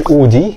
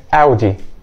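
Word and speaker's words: Audi: اسمها بورشا بورشه طيب والعربيه دي مش اودي هي اودي اودي اودي طيب العربيه دي بقى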